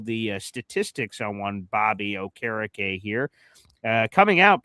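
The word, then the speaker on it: Okereke: So you got old Bobby here and I'll give you all the statistics on one Bobby O' Carrick here uh coming out. people mispronounce his name as Bobby Okariki, which I think sounds pretty cool, too, but that's neither here nor there.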